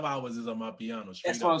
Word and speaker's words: Amapiano: Yeah, Amapiano.